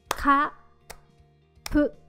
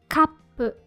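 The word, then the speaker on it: カップ: With this small tsu, you would pronounce it like ka-pu, kappu. In this case, top. And if you write this tsu in normal size, you'd read this katsupu.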